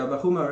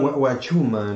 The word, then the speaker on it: Vahuma: Okay, I thought it's Wachuma.